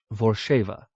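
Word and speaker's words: Vorzheva: A Thrithings woman, her name is pronounced Vorsheva, with the ZH sounding harshly, like the Hungarian ZS.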